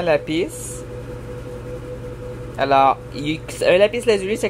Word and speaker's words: lapis: C'est un lapis lazuli. Ça se prononce vraiment lapis.